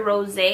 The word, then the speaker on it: Rosé: So this is in the shade Rose or Rosé, because it does have an accent on the E.